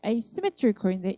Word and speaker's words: asymmetrical: A가 붙으면 asymmetrical인데 이 A가 강세가 없어.